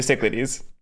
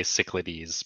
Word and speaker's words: Cyclades: plenty of people say cichlidies but that's wrong it rhymes with Everglades yeah so who's in